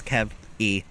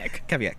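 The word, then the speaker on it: Kveik: But it's Kavik. Kavik.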